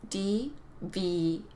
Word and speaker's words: deviate: So deviate has 3 syllables. So it's pronounced deviate.